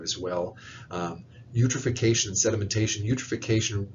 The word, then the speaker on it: eutrophication: Eutrophication, remember, it rhymes with nutrification.